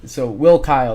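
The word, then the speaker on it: Will Cuylle: it's spelled cuu y l l e uh so will Kyle that's how you pronounce it uh he's been very good on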